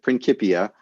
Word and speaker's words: Principia: Principia, is the way and that's how they pronounce it in in the UK, Principia.